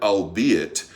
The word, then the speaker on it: albeit: The archaic word albeit does not rhyme with eight.